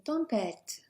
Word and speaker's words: tempête: Notice with the T, in English we'd be wanting to say T, so tempête is very English sounding. Soften it almost to a D, but not too much.